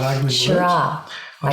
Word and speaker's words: Shiraz: Semillon, It's a bit like I say Shiraz. I don't say Shiraz or Shiraz, which I think are hard, ugly words. Shiraz.